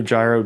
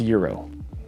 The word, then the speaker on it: Gyro: And that standard height turned out to be the perfect height to clear the new gyro dust collector from Harvey, although I'm told it's pronounced Euro.